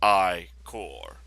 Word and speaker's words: Ichor: can visit with magical I core that's pronounced I core choose your I core